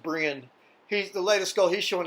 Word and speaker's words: Brien: It looks like it's spelled Brian, like maybe Brien, but it's pronounced Brian.